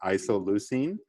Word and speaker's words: isoleucine: know it's a weird one sorry guys it's pronounced isoleucine but all we write is the first three